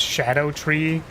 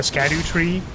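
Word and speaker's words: Scadutree: It's pronounced Shadow Tree, or alternatively, Shadow Tree. No, Skadu, right? It's the Skadu Tree.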